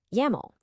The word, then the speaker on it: YAML: It rhymes perfectly with camel, and you always pronounce it as a single word, never spelling out the individual letters.